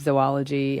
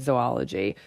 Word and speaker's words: zoology: Both pronunciations are acceptable, though zo tends to be perceived as being more in the scientific realm, such as in the word zoology, the branch of biology that studies animals.